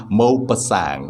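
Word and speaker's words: Maupassant: of alejola by gaidi mo pasang mopa sang is the pronunciation he is a french man and that is pronunciation of his name mo pasang okay on the morning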